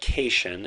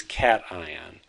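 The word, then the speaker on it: cation: called a cat ion we do not pronounce that keishon it is cat ion so a cat ion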